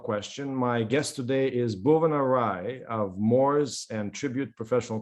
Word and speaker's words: Bhuvana: My guest today is Bhuvana Rai of Mors Tribute Professional Corporation, a tax lawyer, a tax litigator, a really popular person on social media.